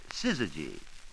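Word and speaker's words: syzygy: an eclipse, they are said to be in sizzy. Hey, try that one on your champion someday. It's spelled s y z y g y.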